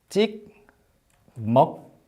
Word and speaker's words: 찍먹: 그래서 이거를 찍, 먹, 부, 먹. 발음할 때는 찍먹, 부먹, of course. 이렇게 발음해요.